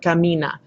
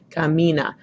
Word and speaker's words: camina: for a second and you pronounce the word camina camina where do you hear this dress com minha you hear it on the I so that gets my accent and that's where I